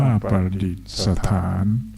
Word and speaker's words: ประดิษฐาน: อ่าน ว่า ราชอาณาจักร ไทย ประดิษฐาน อ่าน ว่า ประดิษฐ์ สถาน พระ เจ้า ป่า และ